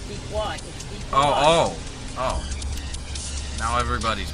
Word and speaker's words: Pequot: Not Pequot. Pequot. Pequot. It's Pequot.